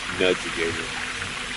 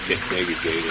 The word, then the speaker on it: Nudgigator: It's a U, not an E, so I gotta say it right. Nudgigator. I would say Negagator or whatever.